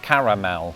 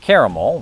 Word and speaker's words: caramel: I could be misremembering this, but I think British people almost universally pronounce it as it's spelled. Caramel. In the US, I've mostly heard two variants. Kiraal, which is more often heard in the South and Northeast, and quite bizarrely, caramel,